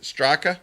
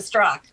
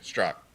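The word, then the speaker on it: Straka: did to brandon straca is it straca yeah after uh january 6th what he pronounces a struck oh okay i know that okay struck thank you and so on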